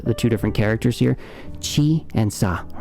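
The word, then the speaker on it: ち: like i said before why is this not like c i don't even know how you pronounce it um it just is what it is so just accept that this is chi and not c all right that's a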